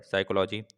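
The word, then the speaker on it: psychology: Which letter is silent in the word साइकोलॉजी? तो पी बता देना।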